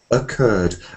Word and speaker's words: occurred: different way so um when we say this word it's more like occurred actually um this word this word word is something about something happening to occur but it's pronounced a bit like words like away ahead there's a whole set of these words which um don't have any stress at the beginning occurred away ahead so